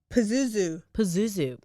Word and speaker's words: Pazuzu: Pazuzu.